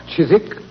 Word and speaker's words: Chiswick: The Chisik branch to be exact. Chisik. It was originally pronounced Chiswick Watson and it's still so spelled.